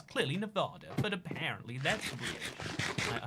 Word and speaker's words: Nevada: I've been to Colorado, Utah, California, New Mexico, Arizona, and Nevada. Nevada. That's how you say it in America. I don't know why you gotta say Nevada. It's clearly Nevada, but apparently that's weird.